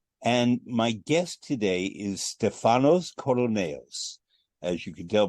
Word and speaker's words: Stefanos: It's Stefanos. Stefanos. Yes, but we have the stress on the first syllable.